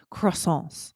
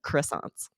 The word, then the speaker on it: croissant: of delicious treats, but my favorite was fresh croissants. And Aubrey, you'd be Nice. better at pronouncing croissants than I would.